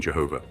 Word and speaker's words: Jehovah: Juha, Jeva, Jova, Jevo, Jeve, Johe, and Jehovah. In all these words, the J is to be pronounced as Y, the A as R, the E as A, and the V as W.